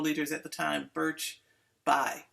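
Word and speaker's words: Bayh: at the time birch bai b-a-y-e and i have struggled with that pronunciation because i always want to call them birch bay but uh birch buy put forth uh an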